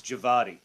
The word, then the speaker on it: Djawadi: W is going to be pronounced as a V. Okay. So it's Djawadi.